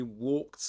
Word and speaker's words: walk: in the verb walk, the L is silent. You never pronounce it. Uh okay.